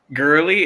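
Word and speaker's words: Goerli: um which I believe is pronounced goal I'm not going to try but you guys hopefully but um girly is it girly all right yeah so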